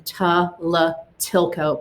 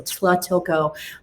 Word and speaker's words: Tlatilco: And here's that pronunciation, Tlatilco, but you run that T and the La together, so Tlatilco.